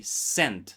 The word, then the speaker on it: scent: As you can see there is no letter S. We don't pronounce letter S. We say sent C.